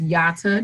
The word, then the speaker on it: Yatta: remember it yep say my name is yata Jones and it's like yada yada yada yada you know when someone talks right right so they'll remember they may remember Yatta and that right and